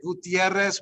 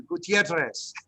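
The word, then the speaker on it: Gutiérrez: Gutierrez with the double R. Just try to throw that T in there if you need to. Gutierrez, Gutierrez, Gutierrez, to get to yourself to roll that R.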